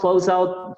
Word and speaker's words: close out: son muy comunes: handoff, close out, ball screen, spot up, box out, me falta una coma ahí, mismatch, que es otra palabra. Siempre la sílaba tónica es la primera.